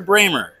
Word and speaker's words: Bremer: I got to make sure, pronouncing your last name, Bremer or Bremer? Bremer like Kramer.